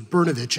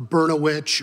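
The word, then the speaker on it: Brnovich: fourth grade that I realized my name was bernich and not a Burno witch or brosaurus vit or any other words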